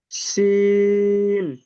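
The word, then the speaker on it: سين: সিন। মাশাআল্লাহ, তাহলে এটা সিটির মতন হবে।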